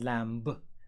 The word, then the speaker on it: lamb: Pay attention, the b is silent, it's not lamb. Lamb, lamb.